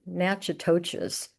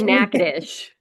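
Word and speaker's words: Natchitoches: Rouge, Tibido, Patterson, and Nachoas. I hope I'm pronouncing that correctly. And we say Nades, it doesn't sound at all like how it looked.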